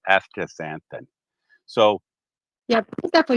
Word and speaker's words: astaxanthin: a t h i astaxanthin that's how you say it after santan so yeah put that